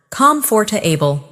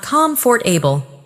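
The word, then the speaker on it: comfortable: Comforable, not comfort for able.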